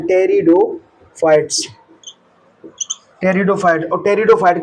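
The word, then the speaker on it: Pteridophytes: ब्रायोफाइट्स के बाद टेरिडोफाइट्स इसके अंदर पीएस साइलेंट रहता है टेरिडोफाइट्स टेरिडोफाइट और टेरिडोफाइट के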